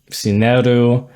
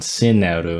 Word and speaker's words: Sineru: So this would be pronounced more like Sineru, Meru, and Sumeru. The first one had more of an I sound, Sineru, and then the last one is Sumeru.